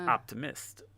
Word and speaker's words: Optimist: It sounded like I was saying like Optimus Prime, but it's Optimist.